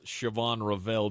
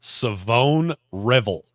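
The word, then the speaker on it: Shavon Revel: I took East Carolina's Siobhan Ravel Jr. Nope. Say his name right. What is it? Savone Revel.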